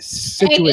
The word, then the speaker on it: Scituate: I know you don't like when I say that, Deb, but Scituate is how it's pronounced.